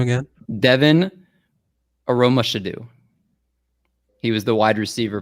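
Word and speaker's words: Aromashodu: you got pretty close brad last word devon aromashedo i feel like you keep on saying last word last round say it again say the name again devin aroma should do he was the wide receiver played for a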